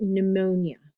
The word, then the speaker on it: pneumonia: Typically, when there's a P in front of an N or a T, you don't pronounce the P, like pneumonia.